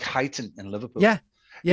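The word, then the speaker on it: Huyton: But the Irish narrator, I sent a list of, you know, phonetic spellings, like places like Highton in Liverpool. He pronounced it. And so Tommy went to Hooton.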